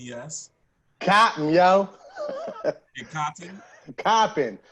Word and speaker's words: Coppin: I said Coppin. Don't play me. Don't play me. Coppin, yo. Coppin State. So, Who's from Baltimore? Who's from Baltimore? I ain't nobody, but that's how they say it up there. So that's how I say it.